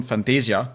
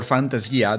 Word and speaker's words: Fantasia: I knew where it was from because it was from Fantasia or Fantasia depending on the the pronunciation you want to take.